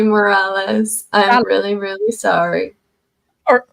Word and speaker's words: Morales: what were you saying I was saying more oress okay I'm sorry Morales I'm really really sorry